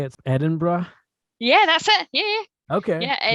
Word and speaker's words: Edinburgh: Edinburgh?